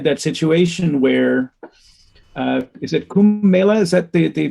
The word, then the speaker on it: Kumbh Mela: But now we've got, just recently in India, we had that situation where, is it Kumbh Mela? Is that the pronunciation of yes. Kumbh Mela?